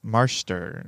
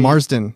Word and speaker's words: Marsden: Is that how you say it? Marsden. Marsden. Yeah, from Buffy. Yeah. Yeah. Oh, I couldn't remember if it was Marster or Marsden. Marster. No, you got Marster. Marster. It was Marsden.